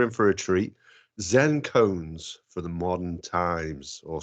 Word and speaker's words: koan: Because a Zen koan is something you meditate on. Koan is spelt a little bit differently to C-O-N-E. It's K-O-A-N.